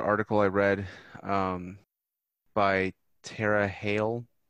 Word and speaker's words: Hale: I was also thinking about another article I read by Tara Hale. I don't know if I'm going to mispronounce her last name. It's Halle.